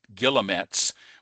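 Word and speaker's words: guillemets: These are more formally called and the people pronounce this in different uh ways. Some people call it something like gay and other people call it gilomets, but I I just tend to call them chevrons.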